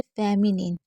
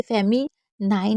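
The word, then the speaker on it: feminine: हैं उसके बाद है फेमिनिन इसको क्या पढ़ेंगे फेमिनिन आप इसे फेम नाइन नहीं पढ़ सकते इसको क्या पढ़ते हैं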